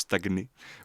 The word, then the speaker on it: stagner: du coup du coup on aura le G d'un côté et le N de l'autre pour le mot gnome par exemple ou pour stagner ou d'autres mots comme ça.